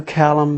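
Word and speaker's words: Clallam: 113 to check out the northwest coast to calum bay that's c-l-a-l-l-a-m bay it was approximately about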